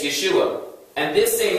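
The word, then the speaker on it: ישוע: Or people pronounce it Jeshua. Now why did they change from this spelling from the understudy of Moses? From the O to the E. In Hebrew, it's Yehoshua. In Aramaic, it's Yeshua.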